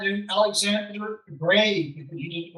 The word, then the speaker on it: Grieg: his name was Alexander Grieg, and they looked at EIG. Well, EI in Norwegian is pronounced like a long A. So they called him Alexander Grieg, and he didn't like that.